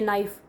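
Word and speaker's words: knife: alphabet silent होते हैं जैसे नाइफ नाइफ में के साइलेंट होता है तो उसकी क्या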